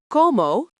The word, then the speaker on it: como: Como, pronounced co-mo, means I eat.